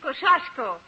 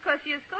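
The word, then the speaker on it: Kościuszko: In Poland, we say his name Tadeusz Kosciuszko. But in America, Tadeusz Kosciuszko is fine.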